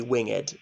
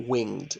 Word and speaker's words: winged: So I think because of the scansion, it's supposed to be winged, not winged, the pronunciation, where they lie cold and low.